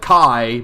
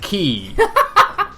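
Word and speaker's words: χ-blade: going to pronounce it Key. Thanks. That really helps. Like, it's kind of weird because like everyone like in the game kind of puts a bit more emphasis on the K sound.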